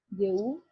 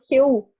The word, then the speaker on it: Jehú: ¿Ahí cómo se pronuncia? Jehú. Ah, Jehú.